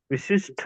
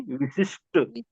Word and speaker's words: विशिष्ट: सही है विशेष विशिष्ट विशिष्ठ नहीं विशिष्ट इसको भी ध्यान दीजिएगा